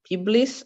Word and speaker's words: pebbles: Quando c'è questa BLE, PLE finale, fai finta che lei sia in mezzo. Pebbles and sand. Tipo able, tipo capable. Ok, quando c'è BLE o PLE finale, lei fate finta che sia in mezzo alla P o la B e la L. Pebbles.